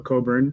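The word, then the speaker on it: Cockburn: I picked this copy because it I love this hype sticker which tells you how to properly pronounce Bruce's surname. So, Coburn rather than what you might be tempted to say.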